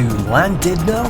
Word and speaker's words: Llandudno: welcome explorers to llandudno as the Welsh would pronounce it it's landed now and we are exploring